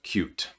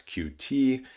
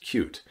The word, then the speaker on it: Qt: things here we have cute uh many of you know it as QT it is correctly pronounced cute and this is a